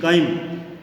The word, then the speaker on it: chyme: काइम की spelling है CHYME। आपकी बुक में गलत दे रखा है, इसको सही कर लेना, CHYME काइम। यानी आहार का वह भाग